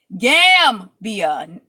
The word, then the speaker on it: Gambia: Gambia, like Pambia.